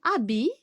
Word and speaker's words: habit: On a deux lettres muettes. On a le H qui se trouve au début et T qui se trouve à la fin.